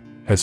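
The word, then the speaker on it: ห้า: and go black and have to be cut off to stop the rot spreading in thailand people text 555 to each other instead of hahaha because the number five is pronounced ha in thai the university of alaska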